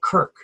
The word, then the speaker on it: Kirk: like a K so the Germanic pronunciation of the spelling of Church would be pronounced Kirk mm-hmm so anyway yeah